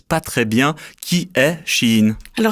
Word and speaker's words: Shein: Je m'appelle et aujourd'hui on va parler de Shein, S-H-E-I-N, à prononcer Shein.